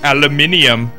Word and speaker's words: aluminium: try to tell me that I'm pronouncing aluminum wrong because I instead I could be British and add in an extra two syllables where they don't need to be added and say aluminium.